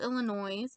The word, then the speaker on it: Illinois: Woodsboro, Derry, Maine, Haddonfield, Illinois. Did I just pronounce the S on Illinois?